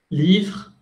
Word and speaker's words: livre: Livre, S no suena, E no suena.